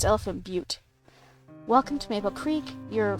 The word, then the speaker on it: Elephant Butte: There's also Elephant Butte. I forget what state that is, but it's spelled... It's spelled... It looks like Elephant Butt, but it's Elephant Butte.